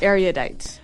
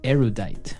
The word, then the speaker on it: erudite: Erudite. Okay, so this word erudite, some people pronounce it erudite.